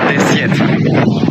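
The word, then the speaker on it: ደሴት: You say Desyet.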